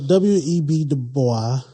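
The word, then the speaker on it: W. E. B. Du Bois: removed from him so w.e.b dubois or w.e.b du bois i'm okay correct yeah i'm okay with either pronunciation i think that he was as well his name was william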